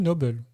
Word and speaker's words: Noble: d'accord avec elle aussi est-ce que vous prononcez Dona noble ou Dona Nobel Nobel moi Nobel c'était c'était c'était la question un point en tout cas en VF c'est ça se dit nobble d'accord al par rapport